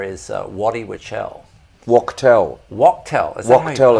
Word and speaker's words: Wachtel: Wachtel, it's pronounced, I always pronounce it wrong.